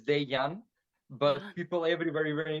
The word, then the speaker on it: Dejan: based in Poland so where I'm coming from the letter J it's pronounced yeah and my name is daiyan but people every very